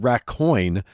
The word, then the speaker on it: Raccoin: The same thing happened to me with a little game I picked up called Raccoin. It's raccoon, but it's spelled Raccoin.